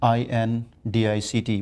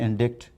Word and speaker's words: indict: talking pronunciation for example look at the word uh i-n-d-i-c-t we discussed long ago i and d-i-c-t many people say indict an indictment where the word is indict so if this person